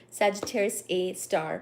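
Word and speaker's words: Sagittarius A*: are too funny uh so apparently Sagittarius A star is part of the name Sagittarius A star pronounced like that the angular size of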